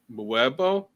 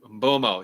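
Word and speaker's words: Mbeumo: There's probably you could match Brian Mbuemo. Mbomo. Yeah, there we go.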